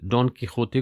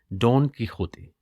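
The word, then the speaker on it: Don Quixote: इस Spanish novel डॉन कीहोते को लिखा जाता है DONQUIXOTE, लेकिन बोला जाता है डॉन कीहोते।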